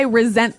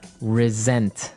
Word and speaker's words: resent: Resent. Resent. Okay. Now, this is spelled exactly like resent, like with an S, right? That's right. R E S E N T. But you pronounce it like a Z.